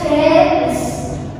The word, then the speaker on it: jealous: Jadi kan bacanya kan jealous. Asli E itu, ini J. Jealous maksudnya itu penekanan di depan. Jealous.